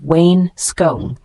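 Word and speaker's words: wainscoting: chair damage the word Wayne scotting w i ns c o t i n g a noun refers to wood paneling on the lower part of walls pronounced as Wayne skone for instance the Wayne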